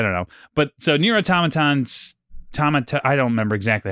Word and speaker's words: Automata: They're like, "Thank you for playing Nier," and it's like Automata.